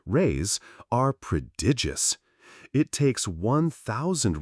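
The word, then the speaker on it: réis: The Portuguese pennies or rise pronounced rays are predigious.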